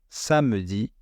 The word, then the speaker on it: samedi: Samedi, samedi.